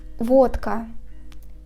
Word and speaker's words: водка: For example, a word водка. We write Д, but we pronounce it as Т, because after comes a voiceless consonant К.